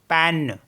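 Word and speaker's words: peine: बोलेंगे ए जैसे पी ई आई एन ई पेन पेन का मतलब होता है पेन टी ई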